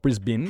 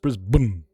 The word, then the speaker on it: Brisbane: It's not Brisbane. It's not Brisbane. It's not Brisbane. Just Brisbun. Just no vow. Remove the vowel all together. All of them.